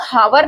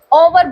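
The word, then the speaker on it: hour: यहाँ पे देखेंगे इसको हावर नहीं बोलते हैं, ओवर बोलते हैं, ओवर।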